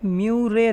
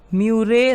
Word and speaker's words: Murray: तो देखिए यहाँ पर एक रिवर है म्यूरे रिवर, ये न्यू साउथ वेल्स और विक्टोरिया का